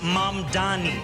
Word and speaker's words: Mamdani: And furthermore, the name is Mam Dani. M A M D A N I.